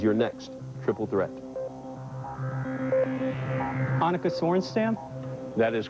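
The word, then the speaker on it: Sorenstam: Anukica Sornstamp. That is correct. The pronunciation.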